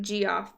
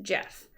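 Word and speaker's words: Geoff: marbles now i know this name looks like g off but it's pronounced jeff jeff planted four pots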